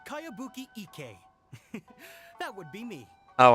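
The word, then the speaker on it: Kayabuki Ikkei: It's pronounced Kayabuki Ike.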